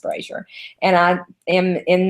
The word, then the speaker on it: Brasher: My name is Brasher, but last name is Brasher, but it's pronounced Brasher.